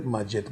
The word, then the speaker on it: Maget: My name is Maget, pronounced as is in Spanish language.